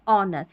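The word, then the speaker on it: honour: कुछ शब्दों में एच नहीं पढ़ा जाता, विशेषकर यहाँ पर स्पेलिंग्स दे रखी है, इनको याद कर लें। जैसे ऑनेस्ट ये दे रखी है ना, ऑनेस्ट, आवर और ऑनर। ठीक है, यहाँ पर नहीं पढ़ते हैं, किसको, एच को, एच को नहीं पढ़ते हैं।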